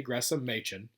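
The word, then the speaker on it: Gresham Machen: from it's from gordon clark writing to jay gressam machin um and that's the correct pronunciation it was this was discussed on one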